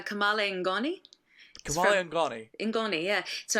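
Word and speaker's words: kamalen ngoni: singer and can construct one hell of a Cale nagani kayn seele welcome to the show thank you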